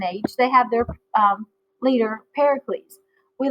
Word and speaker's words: Pericles: they have their leader Pericles we like I like to say that Pericles is like Hercules because it rhymes then you can remember